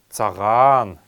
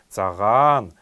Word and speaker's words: цаган: первое слово это слово саган саган саган нужно произносить его немного протягиваем вторую буква цаган саган это белый hara